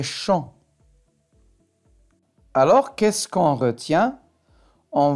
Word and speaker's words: champ: Alors, les mots sur lesquels on voit la lettre P et on n'entend pas le son P, c'est loup, quand, trop et champ.